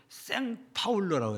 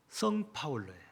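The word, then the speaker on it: São Paulo: 해서 가장 큰 도시는 우리가 보통 사람들이 발음할 때 생파울로라고 해요. 생이라고 발음하는 사람 있고 그냥 성파울로라고 발음하는 사람도 있고 그래요. 근데 본래 영문 포교로면 앞에 성자예요. 성파울로예요.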